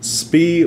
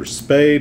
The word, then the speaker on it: Spee: opinion that's right we're talking about Maximilian Bond speed or spay depending on if you want to pronounce it correctly or not and we're talking